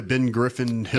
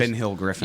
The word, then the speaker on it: Ben Hill Griffin: They'll get him on the grass at Florida, Ben Griffin Hill Yeah. Stadium, whatever they call Ben, that place. Ben Hill Griffin.